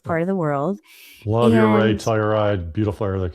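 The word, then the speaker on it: Ouray: It's so, and nobody can agree on how to pronounce it, but I call it Uray.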